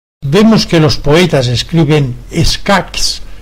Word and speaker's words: escacs: Un castellano las pronunciaría tal como ocurre hoy con las palabras que acaban en ch, como vich, lluch, escach. En cambio, un catalano parlante las pronunciaría con q final, como vic, lluc, escac.